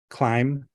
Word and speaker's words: climb: So, it goes com tomb, limb, climb, crumb. You know, you don't you don't even necessarily pronounce the B.